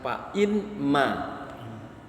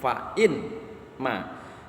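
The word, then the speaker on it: فإما: Jadi asalnya fa imma. Tapi nunnya dilebur, maka karena dia dilebur bacanya jadi fa'imma, pakai tasdid tuh di nun, fa'imma. Sekali lagi sebetulnya fa'inma, in syartiyah.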